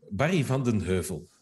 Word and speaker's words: Barry van den Heuvel: I think if you pronounce it correctly, it would be Barry. His full name, sorry. Van den Heuvel? Barry van den Heuvel.